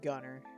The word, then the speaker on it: Gunnar: Gunnar is pronounced gunner.